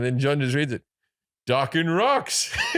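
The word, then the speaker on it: Dokken: He goes, you don't know docking? It rhymes with rocking.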